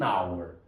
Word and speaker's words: hour: vai ser n Ena porque é uma palavra com h h é uma consoante sim mas pertence a um grupo mínimo de palavras cujo h não é pronunciado é o que nós chamamos de H mudo en en hour Tá certo então esclarecido